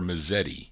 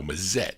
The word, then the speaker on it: Mazette: I don't know if that's Mazette or Mazzetti. No, Mazette. That's how you pronounce it.